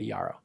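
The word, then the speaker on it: Jarrow: There's Thorn and there's Yarao. Yarao is spelled with a J pronounced like a Y, a Yaro.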